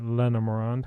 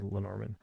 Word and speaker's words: Lenormand: So with this deck here, this is the Bluebird Lenormand or Lenormand, however you want to pronounce it. I say Lenormand.